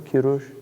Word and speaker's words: Kurush: If you read the story of, if you read in Herodotus the story of Kurush, Cyrus, is that how they say it in Persian? Kurush? Yeah.